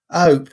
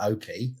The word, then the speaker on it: Ope: Ope. It's not Opie. Opie. That's stupid. Church Ope. Like hope without an H.